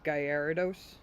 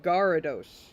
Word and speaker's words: Gyarados: One of the worst, though, is Gyarados. People who say Gyarados. It's not friggin' Gyarados. It's Gyarados.